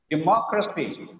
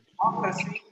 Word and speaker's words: democracy: Democracy. Here the ending is crusty. The preceding syllable is mo. Democracy.